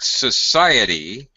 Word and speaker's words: society: Notice that between the I and the E sound, there's a Y.